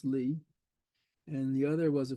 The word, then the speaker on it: Lie: was a Norwegian named sopus Lee pronounce Lee and the other was